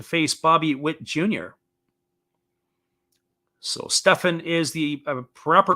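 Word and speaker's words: Stephan: be entrusted to face bobby witt jr so stefan is the proper pronunciation here so trevor stefan in the game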